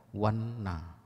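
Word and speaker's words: vaṇṇa: Lalu kata yang kedua wanno atau wanna, V-A-N-N titik bawah A, dibaca wanna. Artinya paras yang elok, cantik, rupawan. Lalu ada tulisan yang mirip, V-A-N-N-A, polos N-nya, diucapkan wanna.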